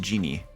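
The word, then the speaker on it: djinni: gin is this oh this is genie right this is pronounced genie yeah they are they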